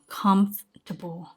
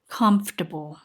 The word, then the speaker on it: comfortable: comfortable လို့အသံထွက်တယ်ဒီစကားလုံး comfortable ဆိုလို့ရှိရင် comfortable လို့အသံထွက်တက်ကြတယ် right ဒါပေမယ့်တကယ့်ထွက်မှန်က comfortable comfortable okayနေ ကနေပြန်ပြောကြည့်ရအောင်နော်။ How do you pronounce this? How do you pronounce this? It's pronounced comfortable.